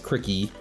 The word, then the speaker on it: Cricket: set Cricket let's go I know it's not Cricket it's cricky maybe that's why I was